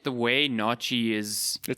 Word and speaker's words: naartjie: It just seems like the way naartjie is spelt and written. Yeah, it looks like a very Afrikaans, like, you know, that TJIE at the end. It wouldn't be naartjie, it'd be naartjie.